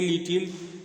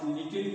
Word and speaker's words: little: कहते है लिटिल और लिटल का उच्चारण क्या होता है लिटल उच्चारण होता है इस लिट इसका उच्चारण होता है ट ट तो लिटल मतलब होता है थोड़ा हम लोग लिटिल बोलते हैं थोड़ा अपने इंडिना कर देते हैं लिटिल होता है टल टल तो तो इसका मतलब